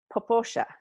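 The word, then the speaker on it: Popo Agie: say I've decided this is how it's going it like poo AI but it's poosha sure okay I know a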